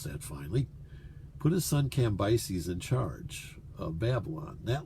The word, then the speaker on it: Cambyses: Well, likely he continued in Babylon, and Cyrus put his son Cambyses, I've learned how to pronounce that finally, put his son Cambyses in charge of Babylon.